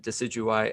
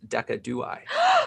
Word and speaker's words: Decidueye: But I said Decidueye as Decadui. And He commented on your video. That's how I pronounce it. Wrong all the time.